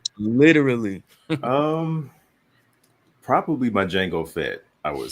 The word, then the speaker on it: Jango: They're spelled differently, but pronounced the same.